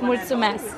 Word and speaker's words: Mulțumesc: In Romanian, it's Mulțumesc. Muchamask. Mulțumesc. Mutsumask.